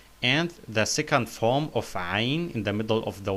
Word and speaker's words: عين: عين, not عين, but عين.